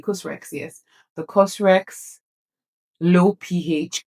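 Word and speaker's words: COSRX: So I got for face wash, I got the Cosrex. Is that how to pronounce it? Yes, Cosrex. There's no E, but so maybe Cosrex.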